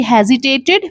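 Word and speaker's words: hesitate: शी है हेजिटेटेड before answering.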